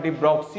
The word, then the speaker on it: de Broglie: लेकिन जैसे ही आइंस्टीन ने बताया कि लाइट के पास पार्टिकल नेचर होता है, वैसे ही डी ब्रोगली नाम के साइंटिस्ट थे, ऐसे इनका एक्चुअल प्रोनाउंस डी ब्रोक्सी होता है, डी ब्रोगली नाम के साइंटिस्ट थे।